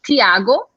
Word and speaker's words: Tiago: So in Northeast, they would say Tiago because there's a T, so you pronounce T. So Tiago, that's his name.